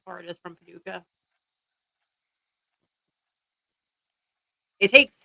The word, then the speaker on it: Paducah: Paducah is spelled with a C, by the way, PNW. It's Paducah. Paducah.